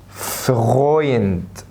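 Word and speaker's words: Freund: الاي او تنطق اوي اوي، زي كلمة فغويند.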